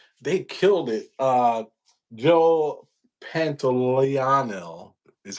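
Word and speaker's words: Pantoliano: Uh Joe Pantiano is how you say his name.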